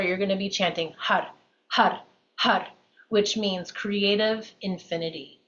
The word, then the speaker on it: har: which means creative Infinity h a r i can't even say the r without rolling my AR if you can't roll your R that's fine it'll sound more like HUD h h with the tip of the tongue flicking the upper palette okay so that is